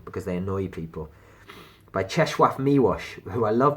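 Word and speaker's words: Czesław Miłosz: they annoy people by cheshwarf miwash who I love pronouncing his name the Nobel prize winning brilliant Lithuanian polish poet I like pronounced his name because most people say Chez Lao milosh and it makes me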